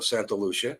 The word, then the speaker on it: Santa Lucia: Uh, dark watchers, Santa Lucia mountains or Santa Lucia if you want to pronounce it correctly.